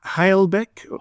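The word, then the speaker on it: Humlebæk: pronouncing this I'm going to murder it it's halbeck that's spelled it's spell be with me a second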